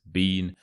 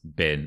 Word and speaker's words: been: had never been fishing so the word been it looks like it should be pronounced Bean however that isn't the case it's pronounced bin as if it were